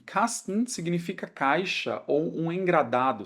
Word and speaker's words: Kasten: E aqui eu tenho um ST, mas não quer dizer que eu tenho que pronunciar Kasten, tá?